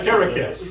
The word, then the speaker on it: Karakis: I said it wrong 3 I times came, earlier. I came up with it. I Karakis. The name of the city is Karakis.